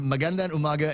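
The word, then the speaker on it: Magandang Umaga: you gotta say it like that you got Mandan Umaga and then serito bite your lower lip you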